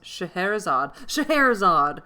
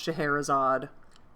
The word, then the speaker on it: Scheherazade: Scheherazade! Sultaness Scheherazade must live another day. I don't know who that is, but I know it's pronounced Scheherazade.